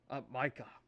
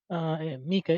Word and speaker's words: Mika: Micah or Mika. Mika is the preferred pronunciation, but either one is fine.